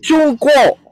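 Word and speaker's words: 中国: kan ya Iya Ben yang benar itu cungko negaranya ini adalah negara cungko bahasa Inggrisnya karena bahasa Inggrisnya gak bisa CH Jadi pakai z zh z seperti itu ya Nah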